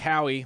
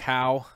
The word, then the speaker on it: Howe: Howie 9, Mike Howie. Mike Howe. I always say his name wrong. I say Howie because I'm excitable.